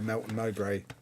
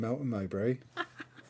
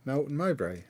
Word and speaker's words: Melton Mowbray: What I might do is go over to Melton Mowbray and get a pork pie. Say that again. I might go over to Melton Mowbray and get a pork pie and some sausage meat while I'm there.